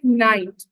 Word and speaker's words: knight: Silent letters like night. So here KNIGHT.